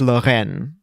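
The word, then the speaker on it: Lorraine: an atlantis thing well if i say it in french it's loren it's a region that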